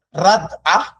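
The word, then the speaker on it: רדה: Yaitu kalau kita lihat di bahan kita, sempat membaca bahan kita, maka kata Ibrani yang digunakan adalah rad radah. Radah ya bacanya gitu dosen saya.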